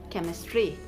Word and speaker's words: chemistry: we have is um c h c h when it is used together in a word it is pronounced as the letter k we have the example here in case of like chemistry c h e m i s d r y if it sounds if it is pronounced with the usual sound it should be like chemistry or something but see it sounds as que so it is pronounced s chemistry and also in the case